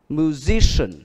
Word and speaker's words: musician: Đuôi tiếp theo đó là cũng là ian. In, nó cũng được phát âm là in. Ví dụ như từ nhạc sĩ, musician, musician, musician, musician.